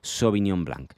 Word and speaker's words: Sauvignon Blanc: preferida so bignon Blank así se escribe y lo pronunciaríamos su opinión Black y su opinión Black